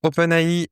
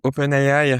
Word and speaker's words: OpenAI: Donc voilà pour OpenAI ou OpenAI, ça dépend comment on le prononce, si on le prononce à l'anglaise ou à la française.